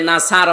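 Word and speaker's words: نصر: এই যে যারা সূরা নাসর পড়ে আমি বলেছি এখানে আছে দিয়ে উচ্চারণ করলে নাসার মানে শকুন বা ইগোল অথচ নুন সদর নাসর মানে সাহায্য এখানে আল্লাহ শব্দের আগে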